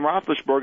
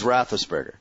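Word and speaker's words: Roethlisberger: rothberg and I won I know I say that name wrong all the time but big yeah I forward you some of the emails yeah I my defense was that you were just tired and you didn't feel like saying all the syllables but you knew it was rosberger yeah I you know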